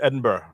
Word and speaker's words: Edinburgh: It's just Edinburgh.